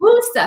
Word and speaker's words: Worcester: I had a couple of emails saying, hey, lady, it's Worcester. All right, that's how you pronounce it, Worcester. Then you're a Worcester.